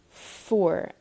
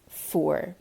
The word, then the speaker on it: fuar: But cold is foor, pronounced foor.